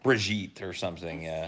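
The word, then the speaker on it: Brigitte: that's that's no it's it's not Bridget I mean it is like brigit or something yeah it's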